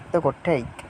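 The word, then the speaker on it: take: পারলাম যে দুইটি বাক্য শব্দের মধ্যে রয়েছে সেটি টেক অর্থ নেওয়া টেক অর্থ নেওয়া দেখেন টেক এর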